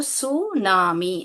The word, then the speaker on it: tsunami: तो यह जो सुनामी जो है ये जो टी जो है यहां पर साइलेंट है। इसको सुनामी ऐसा पढ़ना चाहिए।